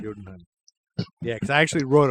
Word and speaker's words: Jotunheim: Well, Thor then convinces his buddies all to go to Jotunheim, even though they're not supposed to. Jotunheim, did I say that? Yeah. right? Jotunheim. Jotunheim.